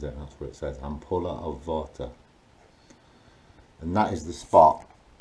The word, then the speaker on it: Vater: I think I check the thing on their pronounces it so I'm puller of Vata and that is the spot guaranteed digestive system